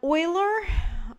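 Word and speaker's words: Euler: this particular notation um Oiler that's Oiler spelled like that came up with his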